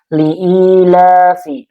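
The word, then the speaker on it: لإيلاف: Liilafi. Di sini ada i. Ini mad tabi'i ya. Karena ada ya sukun sebelumnya kasrah dibacanya dua harakat.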